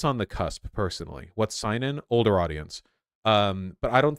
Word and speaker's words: seinen: What's seinen? Older audience. But I don't think it's like Berserk tier in terms of appealing to an older seinen. Seinen? That's how it's pronounced, not seinen.